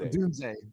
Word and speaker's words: Odunze: Odunze. Odunze.